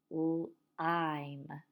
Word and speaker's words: lime: We should all be pointing to the word lime. Lime. And we know it's the silent E at the end of that word that's making the I say its name.